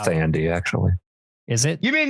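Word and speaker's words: Thandie: It's pronounced Tandy, actually.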